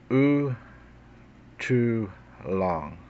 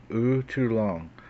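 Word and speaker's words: U'tlun'ta: Spearfinger, known in the Cherokee language as, and the pronunciation of this would be U too long, okay? U too long, which translates to one with a pointed spear.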